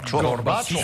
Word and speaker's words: Gorbachov: Gorbachov. parce que tout le monde le dit maintenant, tout le monde prononce bien.